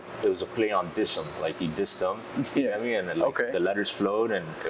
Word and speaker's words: Disem: Oh, okay, so it's Disem, not Disem. Disem, yeah, you okay.